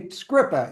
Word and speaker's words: Skrzypa: So I guessed his pronunciation of his name incorrectly. Skrzypa is correct.